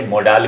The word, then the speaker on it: modal: दोस्तों, आज हम सीखेंगे मॉडल वर्ब्स. आज हम सीखेंगे मॉडल. इसे मोडाल भी कुछ लोग बोलते हैं. In fact I यूज to pronounce it मोडाल. This is मॉडल.